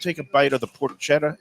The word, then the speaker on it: porchetta: Is it porchetta or porchetta? I always say porchetta. He, who's from, I guess, Italy and New York, said porchetta. And I think Shirley pronounces it the same way, too, whenever I'm mispronouncing it. So I think you say porchetta.